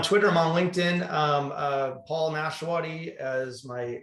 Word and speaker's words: Nashawaty: It's Nashawaty pronounced Smith. No, it's Nashawaty. But no, I'm on Twitter.